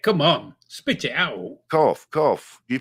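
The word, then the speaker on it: Corfe: Cough. You pronounce it. You say a Yorkshireman. I'll pronounce every letter. Well, it'd be cough. As in F. Yeah, we coughed it. Yeah, it's you're on the right track.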